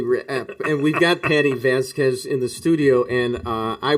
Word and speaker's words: Vasquez: I gave him like 4 possibilities for how to pronounce it. Is it Vasquez? Yep. Vasquez.